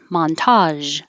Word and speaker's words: montage: And this looks like GE, but sounds like j, montage, montage.